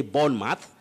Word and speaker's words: Bournemouth: has talked of leicester we have bournemouth bournemouth what you see in that name or in the team is like you have mouth yeah but you say bone math just like portsmouth a bit tricky but